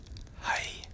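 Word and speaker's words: hei: It is quite close to for example if you say hi in English just you have an e you get sort of going from high to high is hi. Put more pressure on I kind of.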